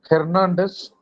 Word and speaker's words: Hernandez: Second name, Hernandez. It is H, not F. Hernandez.